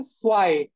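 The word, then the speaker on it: zwei: তাহলে জেড যদি থাকে আমরা এস এর মতো উচ্চারণ করব। তাহলে এটার উচ্চারণ হচ্ছে সোয়াই, সোয়াই।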